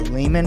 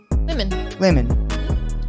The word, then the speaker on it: Lemon: Yeah, and we mispronounced his name because Wade was telling me that it's called the Lehman Brothers, but he corrected me at the end of the thing. It is actually Lemon.